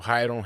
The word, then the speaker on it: Rayron: In Brazil, the R, when it comes in the beginning, sounds like an H. So Rayron, Renzo, Ralph, Rickson, Royce.